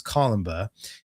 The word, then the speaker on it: Columba: It's spelled like Columbe, but it's Columba.